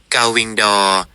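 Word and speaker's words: gull-wing door: ที่ ถูก ต้อง สำหรับ ประตู ปี กนก คือ เกาวิงดอ เกาวิง ทำไม มัน ออก เสียง ยาก จัง เลย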